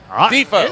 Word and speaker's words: Defoe: Don't even imagine don't even imagine the E is there. It's a D, it's a space, it's a foe.